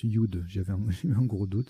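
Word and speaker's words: judd: Et oui, voilà, on le prononce Yud. J'avais eu un gros doute, c'est Yud.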